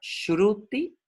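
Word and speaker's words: श्रुति: Hablamos de lo que se llama Shruti, se pronuncia como si fuera una SH en sánscrito. Hay 3 S's.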